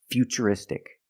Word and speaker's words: futuristic: That's right, it's ch, because we see T-U-R-E, we pronounce the T as ch. And we see T-U-R-I in futuristic. Again, the T is pronounced with the ch sound.